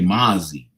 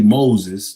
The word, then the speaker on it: Moses: You know, cuz he doesn't even pronounce the Z at the end. He just say Mazi.